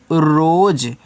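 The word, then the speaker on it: rose: कोई उच्चारण नहीं होता अगर लास्ट में ए दिया है तो उसको साइलेंट कर दिया जाता है आगे लिखा है एच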